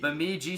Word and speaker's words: Bemidji: And they played, how do you pronounce? Bemidji State. Bemidji State.